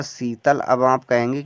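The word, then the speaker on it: Sheetal: next है यहां पर S double E टी ए एल पढ़ेंगे हम इसे शीतल ऐ से तो छोटा सा हुआ डबल का मतलब बड़ी की मात्रा टी से तो बच्चा त हुआ ए साइलेंट एल से ला हुआ शीतल अब आप कहेंगे कि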